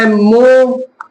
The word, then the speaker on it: mho: देखा, मो, इसका मात्रक मो। इंग्लिश में लिख देते हैं MHO, क्योंकि पलट गया, ओम की स्पेलिंग इधर से उधर हो गई।